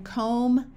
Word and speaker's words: comb: in man and map if you have an M followed by a b the B is often silent like in comb thumb or crumb however if you